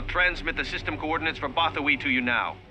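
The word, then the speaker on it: Bothawui: Move fleet to Bothawi. I think that's how they said it, but that's how it's spelt, so I'm going to say Bothawi.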